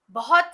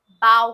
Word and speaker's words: bow: Number 1 जो pronunciation है ना, जिसे हम ऐसे झुकना के सेंस में यूज करते हैं, उसे बाव कहा जाता है। बाव, जैसे कि उसने अपनी प्रस्तुति के बाद दर्शकों के सामने झुका। He bowed to the audience after his performance. अब जो नंबर 2 प्रोनाउंसिएशन है सेम वर्ड की, सेम स्पेलिंग की, वो है बो।